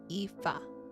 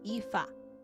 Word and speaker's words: Aoife: Wait, Aoife. It's Aoife. Okay. I keep forgetting. Like Eve.